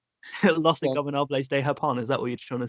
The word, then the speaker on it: Los Ingobernables de Japón: I want to hear you pronounce it. Los Inagulables. Los Ingobernables de Japón.